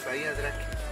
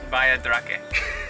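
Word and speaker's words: Bahía Drake: How do I say it? What? Drake Bay? No, it's okay. Drake Bay, Bahia Drake. Bahia Drake.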